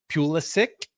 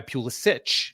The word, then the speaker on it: Pulisic: So similar to how Christian Pulisic is how you would pronounce that name, but he goes by Pulisic, which is the American pronunciation of his Czech name, right?